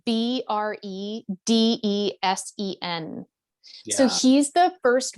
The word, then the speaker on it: Bredesen: Bredesen, Bredesen.